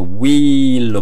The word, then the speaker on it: wheel: wheel인데 H가 묵음입니다. 묵음. 그래서 wheel로 발음이 납니다.